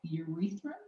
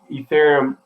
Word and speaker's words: Ethereum: I might butcher this name. Urethrum? Ethrum? ETHEREUM. Oh, Ethereum. See, butchered it.